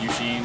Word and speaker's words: Eusheen: find it by searching my name which is eugene it's spelled e-u-s-h-e-e-n cool uh do you have a